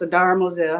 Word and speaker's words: Adara Moselle: It's Adara Moselle, right? Am I pronouncing it right? Yes. Adara Moselle.